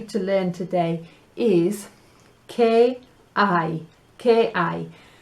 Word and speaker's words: hay: La H, silencio. Don't say it.